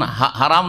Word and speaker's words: হারাম: আর যখন শুধু বলবেন তখন হারাম না বলে কি বলবেন? হারাম বলবেন। হারামিম, হারাম শুদ্ধ উচ্চারণ, হেরেম নয়, হেরেম শরীফ।